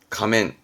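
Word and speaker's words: 仮面: 가세쯔 가하면 얼굴에서는 가면 다 가면 바르면 가면 가멘 가면이 면은 수면의면 자입니다 수면의면 발음은 감히 가민 근데 그러면 거짓된 수면 거짓된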